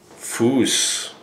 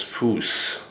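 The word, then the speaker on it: Fuß: here in German is fouse. You would spell that probably fo o zs something like that. So German command for heel is foose.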